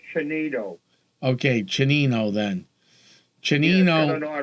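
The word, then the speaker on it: Tsienneto: Yeah, I think that's pronounced Chinito. Okay, Chinino then. Chinino. Yeah, it's got an odd pronunciation. Yes. It's spelled with a T-I-S. You almost want to say Ticento, but... Chinito.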